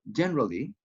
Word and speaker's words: generally: Or generally, 3 syllables. Generally or generally. Okay, but I want you to try to use the shorter form.